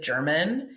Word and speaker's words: Jermyn: I'm obsessed with one character in particular, and her name was Elizabeth German. That's spelled Jermyn, not like the Germans.